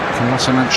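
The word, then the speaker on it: Kolašinac: Kolasinac to get it away again.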